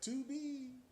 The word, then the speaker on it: Tubi: watch that tubie yeah oh you know i said it right 2b yeah because they got a lot of uh black movies on it it's t-u-b-i if y'all looking for